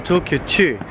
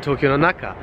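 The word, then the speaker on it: 東京の中: Und ich meinte jetzt gerade so Tokyo Chu. Aber das ist natürlich falsch, es muss natürlich heißen Tokyo no Naka.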